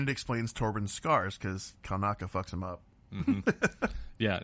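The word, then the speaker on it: Kelnacca: So we actually get to see Master Kalnakis. Is that how you say his name? Kalnaka.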